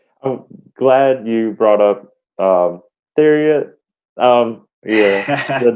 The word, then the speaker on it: Theriot: a guy named Ryan Theriot. I think that's how you pronounce it, was Theriot.